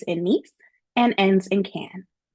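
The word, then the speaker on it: Cannes: So please note that our tour begins in Nice and ends in can. And yes, the S is silent.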